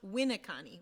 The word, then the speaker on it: Winneconne: He was the mayor of Winneconne, which is pronounced Winneconne with the emphasis on the first syllable.